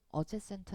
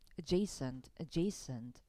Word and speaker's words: adjacent: adjacent. 앞에는 강세가 없기 때문에 이 슈아 발음입니다. 그래서 adjacent 아니에요. adjacent 이렇게 읽어야 되고, 그